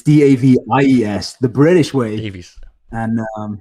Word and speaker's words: Davies: Whereas like, I'm like, it's Davies, the British way. Davies. And pronounce it again. I think Davies. Pronounce it though. Is it Davis or Davies?